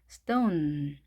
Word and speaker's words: stone: 자, 끝에 이는 발음되지 않았습니다. 자, 스 하시고 토우 이게 이 음절이 하나 만들어졌죠. 토우. 그다음에 하시면 되겠습니다. stone, stone 이렇게 발음을 하십니다.